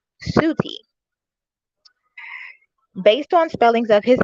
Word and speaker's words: Set: The name and origin, the meaning of the name Set is unknown, but it is thought to have been originally pronounced Suti.